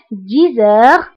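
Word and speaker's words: dix heures: دائما انتبهوا النطق 10 heures. هنا أيضا قمنا بلا liaison entre X et H.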